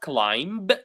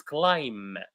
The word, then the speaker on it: climb: And please, for the word climb, the last word, the B is silent. It's not climb. It's climb and when you are